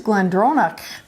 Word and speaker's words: GlenDronach: Well, hey, I think I've been practicing my Gaelic since last year because I actually pronounced that correctly. It is GlenDronach.